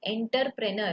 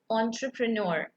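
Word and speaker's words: entrepreneur: लेकिन हम लोग हमारे यहाँ पे कैसे बोलते हैं आपको पता है, एंटरप्रेनर। जो भी सारे लोगों को इंग्लिश नहीं आती या थोड़ी कम आती ना वो लोग ऐसे ही प्रोनाउंस करते हैं एंटरप्रेनर, लेकिन इसको क्या प्रोनाउंस करता है एक्चुअल में, एंटरप्रेन्योर, ठीक है।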